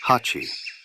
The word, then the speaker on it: 八: It is pronounced Hachi, and has 2 strokes that move apart, forming an ever-widening opening.